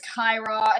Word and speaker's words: Cyra: It's so annoying to have people just like correct all the time. Like it's like Kira and like it's Kyra and they're like, "Oh, I'm sorry, dear."